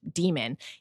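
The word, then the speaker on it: dæmon: It's spelled like Damon, but it's demon.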